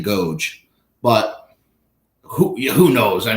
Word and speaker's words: agoge: went through I think I said a Goji I believe the actual correct pronunciation is the agoge but who who knows